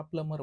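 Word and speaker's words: plumber: पद्धतीने म्हणल मी की इथला जो बी आहे तो सायलेंट आहे म्हणजेच काय की काही इंग्लिश मध्ये काही लेटर आहे ते सायलेंट आहे जस की आता बी हा शब्द बऱ्याच कॉन्टक्स्ट मध्ये सायलेंट आहे जस की ट म्हणत असताना डी य बीटी म्हणतो परंतु ऊट प्रोन्सिएशन करत असताना आपण त्या बीचा उच्चार करत नाही ह्याला प्लमर म्हणतो हे लक्षात ठेवा म्हणजे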